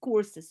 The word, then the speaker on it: courses: to say yeah is courses when you don't pronounce the S at the end is the grocery shopping